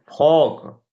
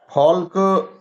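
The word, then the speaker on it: folk: हैं इसी प्रकार से फॉक फॉल्क एक तरीके से झुंड होता है फॉल्क लेकिन हम लोग क्या करते हैं फॉक पढ़ेंगे केवल एल नहीं पढ़ेंगे ठीक ये आपके साइलेंट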